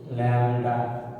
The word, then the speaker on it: lambda: এই যে এই চিহ্নটা দেখো ল্যামডা, এটার নাম, হ্যাঁ, LAMBDA ল্যামডা, এটা গ্রিক লেটার, হ্যাঁ, তোমরা ল্যাম বিটা সাইলেন্ট করে দিতে পারো, ল্যামডা, হ্যাঁ, এটা তরঙ্গ দৈর্ঘ্যের চিহ্ন।